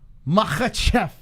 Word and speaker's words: Makhachev: for the fight night, the return of Islam Makhachev.